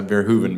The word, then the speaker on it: Verhoeven: Verhoeven, is that the right pronunciation? Yeah, Verhoeven, but it's close enough.